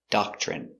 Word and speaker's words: doctrine: Pronunciation, doctrine. Da, k, doc, doc, ch. Remember, when you have TR together, it makes the chicken sound, ch. So again, doc, ch, doc, ch. Docture, docture. Doctre. Doctrine, doctrine.